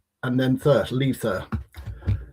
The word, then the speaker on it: Litha: It's pronounced L double E sound and then thirst. Lether.